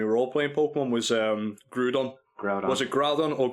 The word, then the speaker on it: Groudon: Yeah, it is Groudon, Okay.